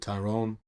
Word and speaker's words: Tyrone: Is that how you pronounce it? Tyrone?